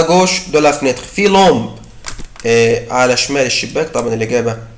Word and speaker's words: lampe: مكتوبة طبعا لومبا هي مش لومبا هي لومب بدل الآ اكتب او. Il y a une lampe à gauche de la fenêtre. في لومب على شمال الشباك.